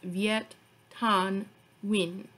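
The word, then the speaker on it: Viet Thanh Nguyen: so don't judge me but his name is pronounced viet tan win multiple people have told me that i need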